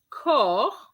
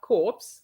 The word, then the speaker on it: corps: the r of the the first one is cor cor which is which means body and not corpse okay it's cor and